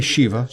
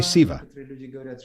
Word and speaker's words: Shiva: Some say Shiva, others say Siva. Pronunciation varies depending on the region in which a person lives.